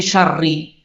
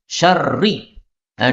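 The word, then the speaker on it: شَرِّ: Ini syarri, ini tidak pakai tanwin. Syarri. Nah, diubah menjadi syarrin supaya terjemahnya berubah.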